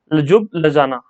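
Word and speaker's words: Ljubljana: ये स्पेलिंग थोड़ा सा अटपटा है, यहाँ पर देख लेना। लजुब लजाना, लजुब लजाना ये कैपिटल है स्लोवेनिया की, तो नोट डाउन कर लेना और याद कर लेना।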